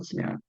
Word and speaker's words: Sumaira: Sumaira, Sumaira, Sumaira, is the pronunciation of Sumaira.